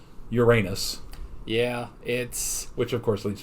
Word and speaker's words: Uranus: For those of you in Great Britain, you are probably aware that we here in America mispronounce it horribly. It has always been Uranus.